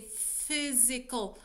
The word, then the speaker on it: physical: Let's say physical. So, you pronounce it as an F, right? This one. PH, physical, right?